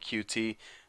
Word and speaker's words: Qt: with cute tutorial now what cute is spelled QT actually some people even call it QT the correct way I don't know I usually just call it cute but it's a framework